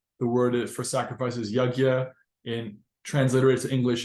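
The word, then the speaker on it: यज्ञ: The word for sacrifice is yajna. In transliterated to English, it's usually spelled as Y-A-J-N with a little tilde on it, A, kind of a funky word, but it's pronounced yajna, sacrifice.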